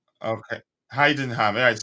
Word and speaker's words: Heidenheim: them how' you pronounce that Dante is it hay them or what big up big up big up man how how are you doing man hien ham okay Heidenheim yeah it sounds more like it like hoffenheim